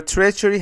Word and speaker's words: treachery: Your treachery has already cost many lives. Your treachery has already cost many lives. Your treachery has already cost many lives. Treachery is a noun. The stress is on T.